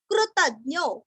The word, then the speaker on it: कृतज्ञो: कपिलाचार्य कृतज्ञो, कृति का कृ, त के ऊपर आघात और ज्ञो, कृतज्ञो मेदिनीपति ही, मेदिनी